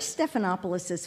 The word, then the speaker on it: Stephanopoulos: Heritage this man who taught us to pronounce all five syllables of his name and did so with pride I've always wondered who is this unusual fellow George stephanopoulos's father is the Greek